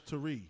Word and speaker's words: Teri: It's Teri_speaks, and Teri is spelled TERI. There's an accent. Don't worry about it. My mom was trying to be a little fancy. She thought we from the country. So it's Tari.